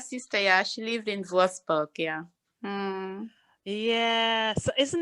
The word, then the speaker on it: Würzburg: Uh, Würzburg. yes. Wurzburg. Würzburg.